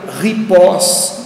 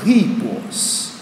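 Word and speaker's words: ἵππος: Ora, esse acento agudo em cima do I é para dizer que o I é tônico, para que de repente você não leia ripós, não é ripós, a sílaba tônica é o I, então ripos, né?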